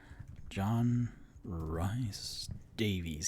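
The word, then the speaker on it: John Rhys-Davies: by john rise davies is that how you say his name john rice davies yep he was voiced by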